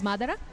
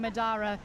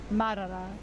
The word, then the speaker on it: Madra: And I'm And I realize I've been saying your name wrong all these times. I've been saying Madara. Um, Madara is one of our regular participants on the Euro Jigsaw Jam competitions. And now I'm hearing that it's Mara.